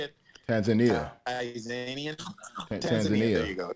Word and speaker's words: Tanzania: Tanzania.